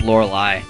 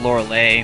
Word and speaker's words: Lorelei: of saying her name I always thought it was Lorelei and very well very well maybe I I usually have a bad name bad time pronouncing people's names yeah well I mean I used to call it laura-leigh when I was like when I was younger you know the lay part like the flower necklace you get in Hawaii